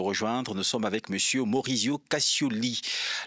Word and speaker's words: Maurizio Cascioli: Nous sommes avec monsieur Maurizio Cascioli. Ça, c'est la prononciation française, mais il y a une prononciation italienne. Maurizio Cascioli.